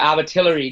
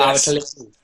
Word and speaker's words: Abertillery: gone in the UFC, they pronounced it Abertillery, didn't they, instead of Abertillery? So I had to correct them and be like, you don't pronounce it how they spell it, like you pronounce it how we would say it.